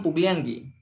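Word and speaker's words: puglianki: Le escribo con la K. Pero lo pronuncio con la G. Kan pugliangi.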